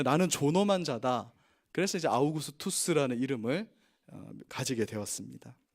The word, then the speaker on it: 아우구스투스: 당시 황제의 이름은 아우구스투스. 근데 아우구스도 이렇게 이제 옛날 번역하신 분들이 발음이 안 되니까 아우구스도 했는데, 아우구스도라고 외국인에게 말하면 아무도 못 알아듣습니다. 아우구스투스, 카이사르의 후계자라는 이름에서 카이사르